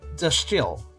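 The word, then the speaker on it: De Stijl: Pronounced de Stil. De Stil. Okay. It's literally the style. Okay, that makes sense now that I say it out loud. Stil. I can see how that could be style.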